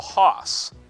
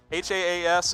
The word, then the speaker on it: Haas: It's Haas. Haas, it's Haas.